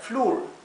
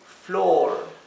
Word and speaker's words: floor: hombre bien fíjense que la palabra floor que se escribe con doble o es una de las pocas excepciones donde tenemos una doble o inglés que no se pronuncia u porque por regla general la doble o se debería pronunciar u Así que esta palabra se leería flur bien pero como es una excepción se lee floor bien tenemos la palabra